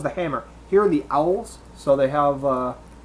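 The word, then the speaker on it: awl: Okay, it is supposed to have a brass, I think it's owl, is how it's pronounced, and hammer to easily dismantle the sword.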